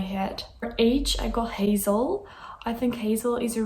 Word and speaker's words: Hazel: for age i got hazel i think hazel is a really cute name um in english i don't think in dutch we pronounce it hassel i don't think that's